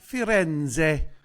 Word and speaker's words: Firenze: It's pronounced Firenze.